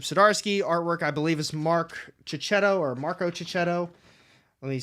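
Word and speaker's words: Marco Checchetto: written by chip sidarski artwork I believe is Mark chichetto or Marco chichetto let me say it right Marco chichetto and Matthew Wilson's on the cover I I'm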